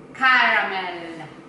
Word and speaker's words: caramel: Next word, caramel. Caramel. Caramel. Caramel? Like, as in silent A?